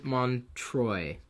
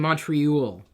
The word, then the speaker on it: Montroy: It's Montroy. Oh, instead of Montreal.